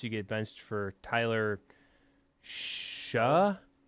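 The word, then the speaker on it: Shough: Shuck. It's Tyler Shuck. Tyler Shug. Nope, it's Shuck. There's a G. There's no K. I understand. I know how it's spelled. It's Shuck.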